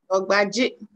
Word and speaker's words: Dorgbadzi: Am I pronouncing the name right? Dorgbadzi.